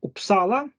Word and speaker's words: Uppsala: about U, U can be like U in Uppsala or U in Umeå. So you see, it is pronounced differently, Uppsala and Umeå.